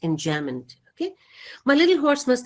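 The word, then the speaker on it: enjambment: j a m b m n t but pronounced in jamond okay my little horse must think it queer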